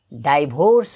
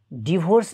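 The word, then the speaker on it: divorce: Next word is डिआइभियुआरसिई डाइभोर्स भनेर भन्ने गर्छन् धेरैले डाइभोर्स, तर डिभोर्स नै यसको सही उच्चारण हो.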